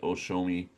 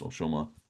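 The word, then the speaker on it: Ōshōma: So maybe one will get Takiasu and the other one will get Oshomi. Uh Oshoma. O yes Oshoma. I have to make sure I say it right.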